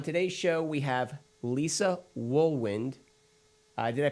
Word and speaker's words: Wohlwend: And on today's show, we have Lisa WOHLWEND. Did I pronounce that right, Lisa?